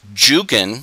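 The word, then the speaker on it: Dzugan: to the united states juggin which is spelled with a j was actually spelled zhugin d-z-u-g-a-n d-z in polish sounds like jay so this was probably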